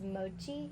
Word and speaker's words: mochi: to butcher how you say it but it's Mochi is that how you say it m o